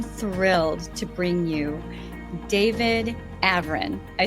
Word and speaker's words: Avrin: I am thrilled to bring you David Avrin.